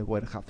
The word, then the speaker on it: Boerhaave: Ese es el nombre de Boerhaave. Se escribe Boerhaave, por si acaso.